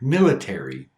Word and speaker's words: military: There are, of course, some words that should have the flap T, but don't. Words like military, politics, detail, iTunes. Each of these words have a stressed syllable before the T, but we don't unstress the T.